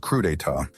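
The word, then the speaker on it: crudités: These ostentatious motherfuckers have been calling veggie platters crudits, pronounced crudita, this whole time.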